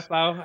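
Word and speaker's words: Bhaflau: never discussed in detail out loud but uh baffo thickets bafow thickets yeah bafow I think is is is the yeah you were close close enough accepted accepted pronunciation uh so the music that plays in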